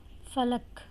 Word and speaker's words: فلک: نظر آ رہے ہوں۔ فلک، فے پر زبر ہے، لام پر زبر ہے، کاف ساکن ہے۔ سحر، سین پر زبر،